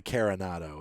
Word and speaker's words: Carenado: I think it's probably Carenado is how it's pronounced.